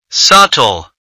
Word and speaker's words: subtle: Subtle. The silent letter is B.